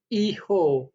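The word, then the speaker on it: hijo: आचे जो होता है वो हमेशा साइलेंट रहता है स्पेनिश में, तो उसको प्रोनाउंस ऐसे करना है आचे। आचे दे ओला। आपने देखा होगा ये एच लिखा हुआ है, मैंने इसीलिए रेड किया है कि ये प्रोनाउंस नहीं होगा।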